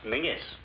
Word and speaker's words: Menzies: And Menzies is pronounced Mingus.